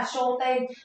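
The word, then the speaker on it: 焦点: Show tên, đúng rồi, đáp án của mình sẽ là show tên. Tiêu điểm chúng ta sẽ đọc là show tên nhá.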